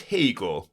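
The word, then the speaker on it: Haigha: happy his name is hag he pronounced it to rhyme with mayor I love my love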